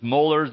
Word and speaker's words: Muller: Heritage and I was like there's mullers there's muers and then he said it like that I'm like yes when I was in the corporate world that's how the Europeans that's how they would say my name but then I tried to repeat and I can't do it so I'm just Muller and you can you